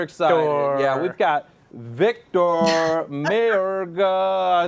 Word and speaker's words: Mayorga: right in super excited yeah we've got victor mayorga i said it wrong there you are victor what's going on buddy good good you're saying it's just fine too victor mayorga yes yes i got it right it's okay